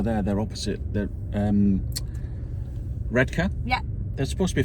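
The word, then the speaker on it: Redcar: out to sea yeah redka but they're not you said so well that's how you say it that's how it's pronounced anybody who says red car oh that's very Posh needs have a have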